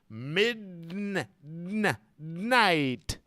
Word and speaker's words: midnight: at the end right there's two syllables here you gotta go to the D mid mid but you don't say the D you roll the D English is like a wave they all connect Min night yeah you go to